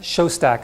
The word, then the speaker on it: Shostak: incredible amounts channels sets so I can set Shostak as how you pronounce his name he's kind of the head